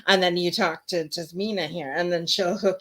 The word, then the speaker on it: Tazima: Tazima. So sass on the Z. That's how to remember it. Sass on the Z. Tazima.